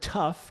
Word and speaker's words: tough: learned it growing up you see the word tough t-o-u-g-h and you know the g-h is an f sound how do you know